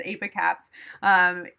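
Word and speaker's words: Apocaps: If they have detectable mast cell tumor, whether it's multiple masses, then I am going to, yes, that's how you pronounce Apicaps.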